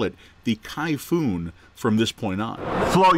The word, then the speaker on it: Kayfun: just calls it the kayfun but the actual name of it is much like the typhoon that we have this is actually a